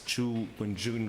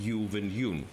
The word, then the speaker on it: Zhu Wenjun: Well, I've always had difficulties pronouncing it correctly, but I think it's Zhu Wenjun rather than Yu Wenyun, but might be wrong.